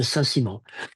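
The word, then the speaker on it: Saint-Simon: Simon and that's how it read but it's pronounced Nicole de Sassimo and he wrote this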